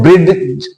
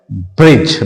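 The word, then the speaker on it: bridge: there is laws ब्रिज इसे हम ब्रिड ब्रिड ज नहीं पढ़ेंगे we have to pronounce it एज ब्रिज because GE comes after D डी के बाद में जी ई यहां पे आ रहा है तो इस डी को हम साउंड नहीं देते हैं वी हैव टू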